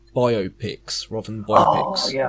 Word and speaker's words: biopic: Well, so what annoys me when they say biopics rather than biopics. Oh, yeah, I know. No, it definitely is biopic, like biographical picture. What? Yeah, but no, it's biopic.